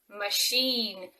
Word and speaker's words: machine: you today is machine machine pay attention to the middle sound the ch sound is actually in machine because it comes from french so many words that